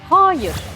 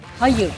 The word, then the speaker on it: hayır: ve hayır dilimizi bunları günlük hayatta birçok kişi ayı uzatarak söylüyor yani yarın veya hayır diye söylüyor ki benim bu kulaklarım bunları bu şekilde söyleyen sunucular Yerler bile e duydu ancak doğrusu anın kısa telaffuzu Yani yarın ve hayır şeklinde söylenmesi Barış Manço'nun çok